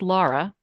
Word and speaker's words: Laura: terrible to do aloud it's pronounced Lara so it's spelled pronounced